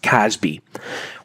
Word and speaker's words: CASB: cloud access security broker casb otherwise just pronounced casby what is a casby